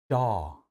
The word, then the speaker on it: jaw: W를 보시고 좌우, 조우 이렇게 하시면 안 됩니다.